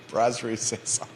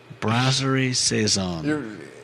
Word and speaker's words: Brasserie Saison: How do you pronounce it? Which restaurant? Brasserie Saison. Brasserie Saison.